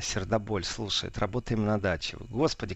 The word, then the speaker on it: Сердоболь: пахнет Вот пришло сообщение Карелия город сердоболь или сердцем довольно верно все-таки ударение сердоболь слушает работаем на даче